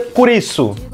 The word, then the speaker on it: Kurisu: Kurisu Makishi, ela ao normal seria Chris, o nome dela é Chris, só que no japonês Chris se pronuncia Kurisu.